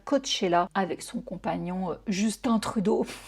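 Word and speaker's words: Trudeau: Je vous le dis à la française, il y en a plein qui m'ont repris. J'étais pas certaine pour moi quand tu es canadien, tu prononces à l'américaine. C'est si tu es québécois que tu pronces à la française.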